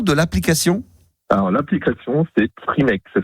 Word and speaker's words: Frimake: Alors, l'application, c'est Frimake. Ça s'écrit F-R-I-M-A-K-E.